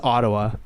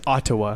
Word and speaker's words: Ottawa: don't do is everybody says Ottawa. Nobody says Ottawa. Yeah, because ODD. You say Ottawa. Yeah. Yo, Ottawa. I'm going to Ottawa. It's just so much quicker.